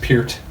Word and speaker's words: Peart: Right Definitely pronounced Peart.